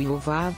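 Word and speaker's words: יוֹבָב: O nome do rei edomita Jobabe no idioma hebraico é pronunciado Yovav, enquanto o nome de Jó é pronunciado Eiol, ambas palavras bissilábicas.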